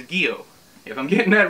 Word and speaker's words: Gyo: on the interwebs and the robotic lady on google said that it was gio if i'm getting that